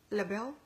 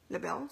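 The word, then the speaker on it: L'Bel: Lebel, Lebel, se pronunciaría bien.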